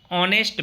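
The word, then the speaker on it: honest: अब हमें यहाँ देखना है, हमारे शिक्षक साथी ध्यान दीजिए, ये जो हॉनेस्ट लिखा है इसको हम ऑनेस्ट पढ़ते हैं, यहाँ एच साइलेंट है इसलिए इसको हम क्या पढ़ रहे हैं, ऑनेस्ट।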